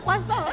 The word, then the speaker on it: croissant: I mean, it's un croissant, you know, that's how it's pronounced, okay?